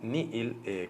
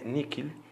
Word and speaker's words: nihil: el concepto de nada, en latín nihil, con H intercalada, o en su otra pronunciación que tiene, níquil, quiere decir nada.